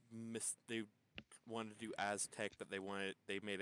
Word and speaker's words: Aztez: And no, we didn't mispronounce that. It's Azte with, you know, Z's.